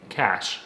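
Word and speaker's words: cache: The project name is tellingly codenamed Cash. While cash, as in C-A-C-H-E, is pronounced the same way as cash, as in cold hard cash, the definition of cash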